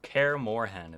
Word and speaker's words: Kaer Morhen: Kaer Morhen is how it's pronounced.